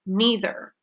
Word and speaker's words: neither: out is aya said neither you can say neither or neither both of those pronunciations are fine so let's practice together